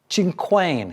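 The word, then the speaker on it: cinquain: Uh, a chin quain. Is that how you pronounce it in in French?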